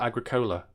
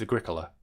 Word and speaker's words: Agricola: Which I used to call Agricola, but I think it's Agricola.